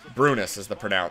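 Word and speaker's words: Brynäs: Brynas is how you pronounce it, apparently.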